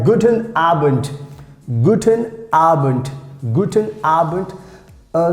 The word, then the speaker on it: guten Abend: useful like guten abend guten arbent guten albert uh sometimes like most of times we pronounce like t this d if it comes in the end so we pronounce like t guten arbent guten arbent that means